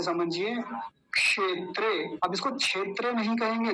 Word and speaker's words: क्षेत्रे: और कैसे बोलेंगे धर्म क्षेत्रे धर्म क्षेत्रे क्षेत्र नहीं बोलेंगे नहीं तो देखि गलत उच्चारण समझिए फिर से धर्म क्षेत्रे क्षेत्र बोलते हैं क्षेत्र गलत उच्चारण है सही उच्चारण क्या हो